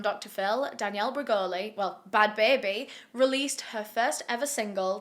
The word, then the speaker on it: Bhad Bhabie: boli was reborn as bad baby and that's spelled nothing like how it sounds bad is spelled with a h try and guess where